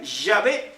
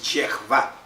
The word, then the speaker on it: Yahvé: Pero no vamos a ser más santos o más salvos por pronunciar Yahvé, que está mal pronunciado. Porque en hebreo es Yehvá, tal como está ahí.